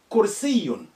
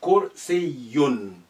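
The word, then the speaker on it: كرسيٌّ: So kursiyun with shadda there. Kursiyun. Khaddun, another one. Khaddun. So when you see that, you need to really reinforce your pronunciation for that dal or any letter with carrying sukun, carrying shadda. Because shadda, you need to be strengthening the letter. Khaddun.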